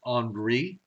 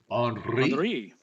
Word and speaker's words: Henri: The one, the H storm, is not a problem because we've had it before, and that's Henri, which is pronounced Henri. Henri, yes.